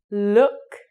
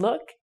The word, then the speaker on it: look: Look. It's a very short sound. Look.